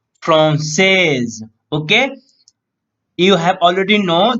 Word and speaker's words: français: Last word before y will be here S. So he will pronounce français.